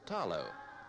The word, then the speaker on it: talo: the samoan diet is the taro pronounced here with the l as tallow the carefully tended beds